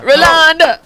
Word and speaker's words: Rolonda: Rolonda. Hey, It kind of sounds like Wakanda.